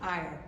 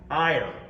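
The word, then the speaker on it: Éire: All right, will you pronounce this for me? Because I always see it in crossword puzzles. E-I-R-E. Ire, Ire.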